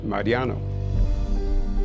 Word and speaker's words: Mariano: My name is Mariano Martinez pronounced in Spanish Mariano and I'm the inventor of the world's first frozen margarita machine.